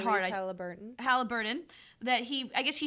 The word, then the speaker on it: Haliburton: Haliburton.